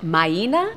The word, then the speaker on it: Maina: Well, it's actually pronounced Maina, but people seem to have a hard time with that, so they just call me Mina.